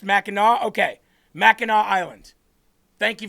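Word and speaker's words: Mackinac: all week and it said, "If you hate Machinak Island, then you hate Michigan." It's that simple. because apparently it represents Michigan families and their history. Meno. Meno is how it's pronounced. Meno.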